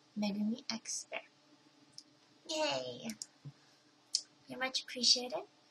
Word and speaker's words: megumixbear: name so now you guys know how to pronounce it correctly it's megumi xer yay very much appreciate it just happy by